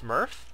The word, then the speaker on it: SMERF: be working on Statics Mass environmental resource Farm uh pronounced Smurf and uh this is